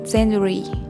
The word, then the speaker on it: January: january january most likely you're saying this month incorrectly there are four syllables and the first syllable gets the stress there's a hidden y and a hidden w do me a favor